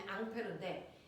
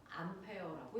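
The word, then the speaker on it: Ampère: 그래서 앙페르 법칙이라고 해도 같은 말이에요.이 앙페르라는 사람은 우리가 앞서 배웠습니다.이 사람은 원래 프랑스 사람이라서 이름이 앙페르인데 이걸 미국 놈들이 뭐라고 읽었다? 암페어라고 읽었다.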